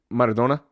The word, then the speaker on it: Maradona: I got my Maradona jersey on right now. I don't like the way you pronounce that. Maradona.